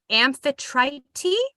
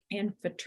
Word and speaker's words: Amphitrite: Amphitrite. Amphitrite. So she was born Aphrodite? yeah, I know. I keep wanting to say Aphrodite. It sounds and looks like it, but it's spelled differently.